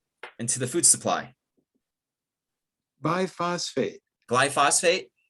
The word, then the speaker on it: glyphosate: glyphosphate was introduced into the food supply phosphate glyphosate glyphosphate ah glyphosate glyphosate my apologies glyphosate yeah yeah